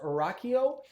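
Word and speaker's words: Rachio: a smart irrigation system I believe it's pronounced Rocko uh but if you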